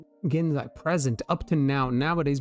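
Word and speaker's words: 現在: Genzai. Genzai.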